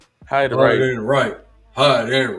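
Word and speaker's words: Heidenreich: Hide and Rash like the old wrestler. Hide and hide and right.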